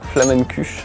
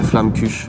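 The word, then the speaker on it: Flammekueche: Aujourd'hui au programme Flamen cuche. Je sais que je prononce pas bien. Flamen cuche. Ouais tu pronces vraiment très mal. Moi je dirais flam cuche. Flam cu flam cuchux.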